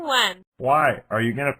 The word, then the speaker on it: Nguyen: girl in class Alexandra nen just saying when why are you going to pour me a glass of milk you idiot that's how you pronounce her last name in English she's going to think